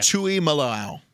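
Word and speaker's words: Tuimoloau: right that last one you got it yeah tuy malow tuy malow right so there's I don't know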